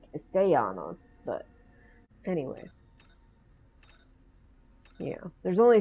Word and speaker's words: Castellanos: Now, I was under the impression that the E is actually pronounced A, and especially with the double L's right next to it, Castellanos, but anyway.